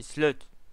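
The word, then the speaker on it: Sleuth: Enfin, j'ai dit Slug à chaque fois, mais c'est Slut. Mais bon.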